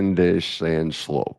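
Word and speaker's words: Zandschulp: Vandal Sculp or Vandal Schulp? I never know how to say it. Vandish and Schlope.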